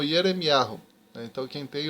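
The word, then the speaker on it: ירמיהו: para o português e no original hebraico Jeremias é pronunciado como hiero então quem tem o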